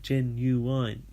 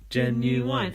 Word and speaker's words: Ginuwine: his name he said it's a three-syllable name and he basically said it's good for chanting like Ginuwine jen new wine agency fast now I